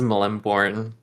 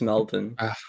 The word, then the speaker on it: Melbourne: in here yeah how's Melborn how's Melborn Phoebe what how's Melbourne oh Melvin I I couldn't tell because you Americans say Melborne When It's Melvin yeah yeah no Melvin